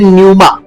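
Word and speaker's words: pneuma: जो Greek word है वो है न्यूमा इनमें पी साइलेंट होता है जैसे निमोनिया निमोनिया में पी साइलेंट होता है।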